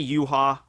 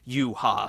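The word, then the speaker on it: Yhwach: He took it from like Yahweh, the Christian, the Judeo-Christian. Yeah. So it's like Yahweh, the two syllables, Yuha. So that's how I pronounce it.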